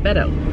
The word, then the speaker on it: Beto: was B ETL but he passes it he pronounced it Beto so and I hope he runs for president